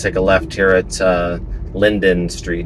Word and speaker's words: Linden: We're going to take a left here at Linden Street, not Linder, but Linden.